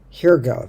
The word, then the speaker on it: hygge: the danish concept of hirga here go that's how you pronounce it it's coziness and